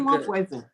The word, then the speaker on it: Nwabueze: I break it down in 3 syllables, and I say, well, you see, the N and the W sound, they're 2 consonants. Yeah. And I find that Anglo-Saxons have a difficulty with 2 consonants, but the Welsh don't, nor do the Scots.